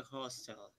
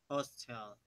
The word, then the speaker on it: hostile: You're pronouncing Hostel, and I think what I probably said was Hostile. Hostile. Hostile. Hostile. It's softer, hostile. And you're saying hostile. Hostile. The O is a little bit different, and it's quick.